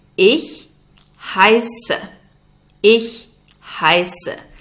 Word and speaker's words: heiße: If you want to introduce yourself, you would say Ich heiße. Ich heiße. That letter looks like a B, but it's a sharp S.